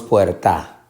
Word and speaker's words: puerta: Decimos puerta o decimos puerta.